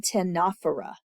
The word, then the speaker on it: Ctenophora: So next recording, we will start with phylum Ctenophora. The C is silent.